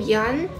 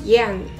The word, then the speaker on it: Yun: but the problem is my first thing Yun will always be pronounced as young which makes only one